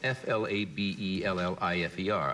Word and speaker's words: flabellifer: It's called an F-L-A-B-E-L-L-I-F-E-R. I guess a flabellifer would be the way you'd pronounce it.